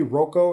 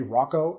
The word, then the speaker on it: Roko: by the name of roko it's spelled r o KO so it might be Roo it might be Rocco I think roko sounds cooler so I go with roko right but basically what